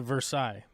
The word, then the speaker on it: Versailles: Every person that is native to this town will blow a gasket if you call it Versailles, because it's Versailles. It's Versailles, Kentucky.